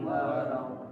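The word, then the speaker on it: ولا الضالين: ghairil maghdubi 'alaihim waladdallin. Ghairil maghdubi 'alaihim waladdallin. Sekali lagi ghairi ya, ghairil maghdubi 'alaihim waladdallin. Ghairil maghdubi 'alaihim waladdallin. Jangan lupa tasdid. Buat sama lam. Waladdallin. Waladdallin aja. Waladdallin. Waladdallin. Tasdid ya.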